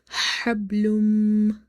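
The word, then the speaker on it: حبل: Hablum, hablum. Now here ba is sakin, and ba is from the qalqala letters, but there will be no qalqala, or the qalqala will be the weakest, or the weak.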